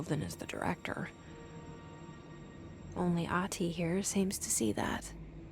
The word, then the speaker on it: Ahti: Ahti. Sorry, the H is supposed to be pronounced right.